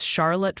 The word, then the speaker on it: Charlotte: And by the way, the Pronunciation Council has decreed it's Charlotte for Charlotte and Olivet for Olivet.